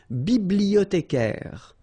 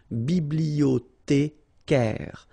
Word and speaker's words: bibliothécaire: Then un bibliothécaire. Bibliothé. Remember, in French, the H doesn't exist, so you don't pronounce it. Bibliothécaire.